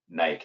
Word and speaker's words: Nike: Rolling through some of the examples that you shared, a lot of those are big brands, Nike, for example, or Nike, as the British say.